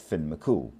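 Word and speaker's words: Fionn mac Cumhaill: C U M H A I L L pronounced Finn Mcool.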